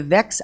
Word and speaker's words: VEX: to purchase robotics equipment is it do you pronounce it vex IQ or is it it is vex okay was this the letter's vex IQ kids